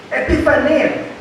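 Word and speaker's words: ἐπιφάνεια: But the word appearing, it comes from a Greek word pronounced like this. Epiphania.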